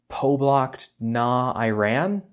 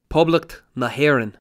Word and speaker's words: Poblacht na hÉireann: Republic of Ireland, or I want to say Poblacht na Éireann? Poblacht na Héireann. Oh man, I wasn't even kind of close.